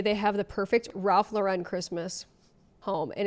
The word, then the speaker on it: Ralph Lauren: It's Ralph Lauren, not Ralph Lauren.